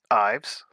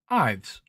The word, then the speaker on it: Yves: So how do you pronounce YVES? Ives. Yeah, Ives. Ives.